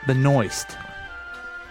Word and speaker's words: Benoist: is Supergirl is Melissa Benoist come again that's her name okay but moist I think so okay and oh is T that sounds like it interesting just rhymes with moist yes it does the